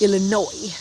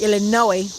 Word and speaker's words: Illinois: Don't pronounce the S. Illinois. is how you pronounce it. Illinois.